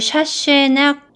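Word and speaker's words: Chassaignac: 조금 다른 말로는 조금 발음이 어려운데 일단 스펠링 좀 먼저 써드리고요. 이거를 샤쉐낙 튜버클이라고 이제 얘기를 하는데요.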